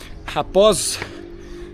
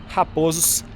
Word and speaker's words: Raposos: Belo Horizonte, e aí, pela pronúncia acentuada, Raposos virou, portanto, Raposos.